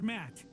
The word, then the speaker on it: Matt: not an inch less the name's Matt the second T is silent okay Matt I'm going